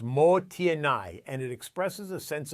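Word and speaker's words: もったいない: It's called mottainai, pronounced motienai, and it expresses a sense of regret over waste.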